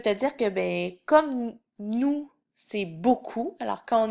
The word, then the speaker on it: nous: Nous, il y a une lettre muette à la fin, le S, mais qu'on prononce pas. Alors, tu peux l'apprendre en disant nous.